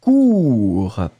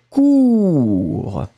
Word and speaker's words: court: Hein, le B, c'est court. Alors, le premier, regardez. Le premier, toujours la même chose. U, hein, très étroit. Cure. Et le deuxième, beaucoup plus rond. Court. Premier, cure. Deuxième cours.